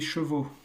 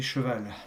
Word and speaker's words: chevaux: eh bien, c'est des chevaux. Donc là, le son change complètement à la fin. Et c'est vrai que vous avez tendance à dire des chevals. Non, ce sont des chevaux et ça s'écrit AUX.